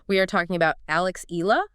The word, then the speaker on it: Eala: We are talking about Alex Ela that's pronounced yala and her well frankly unprecedented Wimbledon debut.